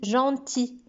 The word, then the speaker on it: gentil: gentil regardez même ça ça se termine avec il mais ça se prononce pas on me dit gentil c'est comme le cas